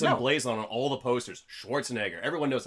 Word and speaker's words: Schwarzenegger: But really, you look at that name, it's pronounced the way it's spelled. Yeah. Like, people like to say, like, if you can pronounce... The actor's Arnold Schwarzenegger.